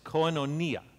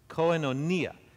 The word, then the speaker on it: koinonia: a greek word and you say it like this coinonia people put the the emphasis on different syllables but that's actually the appropriate way to say it koenonia now can you say